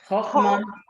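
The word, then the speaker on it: חכמה: How do you pronounce this, the word in Hebrew? Chochma. Chochma, and then Chochma.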